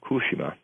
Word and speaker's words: Fukushima: And if that wave hits Fukushima, or we should pronounce it correctly, Fukushima. That's how the Japanese pronounce it.